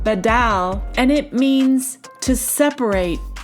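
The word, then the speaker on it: בָּדַל: the word separated is Strong's H914, and it's pronounced badal, and it means to separate, to divide, to set apart, to make a distinction.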